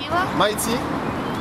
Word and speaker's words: Mighty: Mighty, like English, Mighty, M-I-G-H-T-Y, Killa, K-I-L-A. Mighty, le Y se prononce Y en anglais.